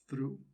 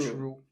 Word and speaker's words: through: I hate the way you pronounce through, because you say through. True. Yeah, you say true. It's like something is true, like the truth. But you should say through.